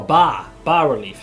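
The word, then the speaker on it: bas-relief: Oh, bar relief.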